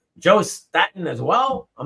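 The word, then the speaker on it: Staton: So if he says Staten, it's Staten.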